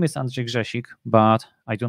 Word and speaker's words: Andrzej Grzesik: part is the introduction well my name is andrej jashik but i do not expect most of you to be able to pronounce that which means i go by